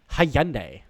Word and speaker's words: Hyundai: We move on to Hyundai. Ooh, as they would say across the pond, Hyundai.